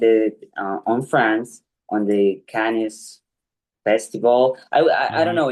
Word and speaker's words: Cannes: And we did present it on France on the Cannes festival. I don't Hmm. know, in French it is pronounced Cannes or it is Can.